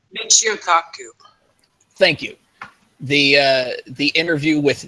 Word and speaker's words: Michio Kaku: know that interview, but that interview, the segment of Makaku. See, now I can't say his name right. I know. Michio Kaku.